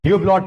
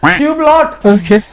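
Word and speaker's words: Hublot: भी ध्यान दीजिए सर ह्यूब्लॉट वो ह्यूब्ल होता है टी साइलेंट होता है इतना करोड़पति ये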